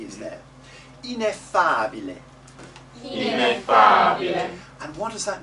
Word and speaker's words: ineffabile: When you make the accent, we're doing the double F, that's very good. F. But don't make the accent with the F. It's not F, it's F. The accent is on the ah, not on the F.